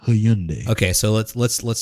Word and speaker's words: Hyundai: people over there that know how to pronounce the word hyundai not hyundai okay so let's let's